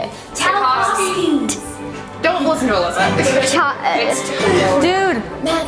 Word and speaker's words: Tchaikovsky: Tchaikovsky. Chai. It's Chai. There's no cha. It's Wait, somebody say it. Tchaikovsky.